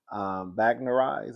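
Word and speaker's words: Bagneris: Bagnarise is how you say her last name, the mother of the two children Neo had during their marriage.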